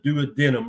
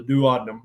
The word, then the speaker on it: duodenum: the stomach empties into the duad denum or the duodenum depending on where you're at the world that it's called two different pronounced two different ways and then that empties